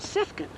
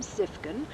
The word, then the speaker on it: Siefken: So now we have learned to pronounce it as it's spelled, S-I-E spells C, so we are Siefkens.